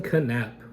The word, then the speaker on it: Knapp: I am your host, Jason Knapp. Yes, the K is pronounced just like the K in knife.